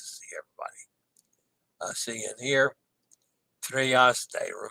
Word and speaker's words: Trieste: Trieste. Remember, pronounce the E's and AY as they.